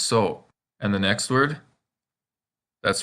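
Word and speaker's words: そ: As you can see, this kana looks like a backwards S with an O underneath, so it's pronounced so.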